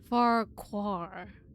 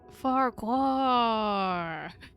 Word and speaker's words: Farquhar: Farquhar. So it rhymes. Farquhar. There are many questions that require answers. Answers I believe he may hold. Farquhar.